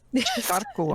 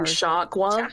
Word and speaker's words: Sharkoa: Sharkoa. Not me saying Sharkwa.